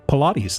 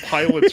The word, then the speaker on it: Pilates: you pronounce that word or are you meing Pilates that's how you pronounce it it's not pets you can call it pets if you want I pronounced it Pilots or pets for years I I'm i' I'm